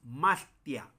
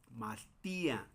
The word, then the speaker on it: mastía: Por ejemplo, aquí dice, bueno, así como está, diríamos mastia. Mastia, cualquier hablante del español lo leería así. Mastia. y enseguida se lee así, pero mastia no tiene significado. Se debe de leer así, mas ti a más tia aunque por supuesto no separamos tal cual así. Más tía, no es más tía. Mastía. Ahí es importante esa separación de Mastía.